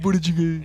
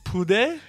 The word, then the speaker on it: budae: Booty. Is that it? Booty. Booty jiggy. So how do you say it? It's pude. Oh, poo. Poo. But it's spelled with a B.